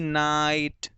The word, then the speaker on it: night: वो जान ले कि जब भी जी एच और टी एक साथ आते हैं तो बेटा जी एच का कोई साउंड नहीं होता, जी एच को प्रोनाउंस नहीं किया जाता, सिर्फ टी को किया जाता है।